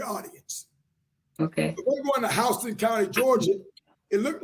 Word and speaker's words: Houston: I research every audience okay we're going to Houston County Georgia it looked like Houston but it's pronounced Houston research to know that so I researched the